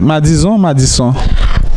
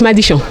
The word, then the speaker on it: Madison: Non, c'est pas toujours qu'à prononcer, c'est Madison. C'est Madison, Madichon. En tout cas, pour tout le monde qui parle anglais, monde qui parle français, Madichon pour le monde qui parle créole.